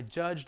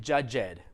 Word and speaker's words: judged: contest judged the contest very small sound you know that's americans aren't listening for that little d sound really main difference main thing is don't make it judge ed that's not a word it doesn't make at least it doesn't sound like anything to me so uh i judged